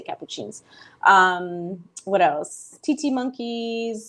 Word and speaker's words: capuchins: said um on lady tis podcast it's it's pronounced capuchins but I just choose to say cappuccins um what else TT monkeys squirrel monkeys I